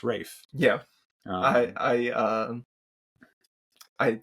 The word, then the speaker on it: Ralph: something but it's not it's spelled Ralph but it's pronounced Rafe yeah I I uh